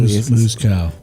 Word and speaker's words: Moscow: No, it was Steele letting me know that Moscow is pronounced Moscow. Colloquially. Moose cow. Moose cow.